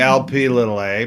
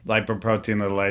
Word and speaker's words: lipoprotein(a): do you say it we say LP little a but lipoprotein little a is probably more correct and this is a